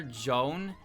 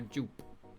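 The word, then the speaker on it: Joon: I call her Jup. Her name is Jup. J O O P. I ain't calling her Joan. I ain't calling her Juan.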